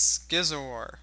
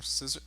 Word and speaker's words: Scizor: Next on the list is Scizor. Or Scissor. Is it? I think it's pronounced Skizor. Skizor? Going back with Skizor.